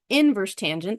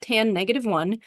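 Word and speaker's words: tan⁻¹: take this tangent and we're going to call him inverse tangent that's how you would pronounce that it's not tan negative one if you say that your teacher will probably understand what you mean but the real words are inverse tangent or inverse sign or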